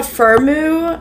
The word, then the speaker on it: Firmoo: But yeah, I think this is called Firmoo is how you pronounce the brand.